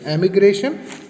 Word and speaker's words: emigration: That is एमिग्रेशन, EMIGRATION, एमिग्रेशन, एंड इमिग्रेशन, IMMIGRATION, immigration.